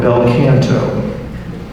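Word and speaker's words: bel canto: just took a while question number two how is the belto group most often mispronounced Kanto there you go Bel Kanto so one of the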